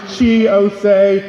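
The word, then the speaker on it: Chi Ossé: everyone my name is chi osei if you have difficulty pronouncing my name i make the same corny joke every single time think of our national anthem oh say can you che i am the councilmember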